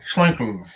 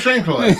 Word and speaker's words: Schlenkerla: Yeah, close enough. You do this, go Schlenkerla. That's all you have to do. It's like, Anglo and Schlenkerla. That's how you say it.